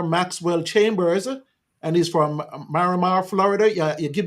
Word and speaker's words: Miramar: we have commissioner Maxwell Chambers and he's from Maramar Florida yeah you give give me the proper pronunciation mirar Miramar Florida okay so he's going to come in